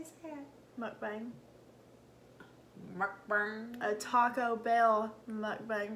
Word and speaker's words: Mukbang: With the mukbang. Yep. Mukbang. How'd you say it? Mukbang.